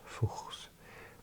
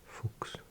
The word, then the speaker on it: Fuchs: If I remember my pronunciation rules correctly, if there's CH with an S after it, you don't pronounce the CH as a ch sound. I think this word is not fuchs, but fuchs.